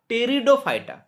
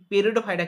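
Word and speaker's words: Pteridophyta: প্রথম যার মধ্যে সংবহন কলা দেখা যায় সেটা হচ্ছে ফার্ন বা টেরিডোফাইটা। পি কিন্তু সাইলেন্ট এখানে। কেমন? টেরিডোফাইটা, পি পেরিডোফাইটা কিন্তু নয়, টেরিডোফাইটা।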